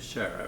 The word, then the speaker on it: Sciarra: last name for us s c i a r r a and you pronounce it sharah right yeah and was